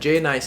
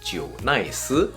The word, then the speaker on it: JNICE: familiar with the brand J nice is actually not called J nice because of the Taiwanese Roots it's actually pronounced Jo nice however for those who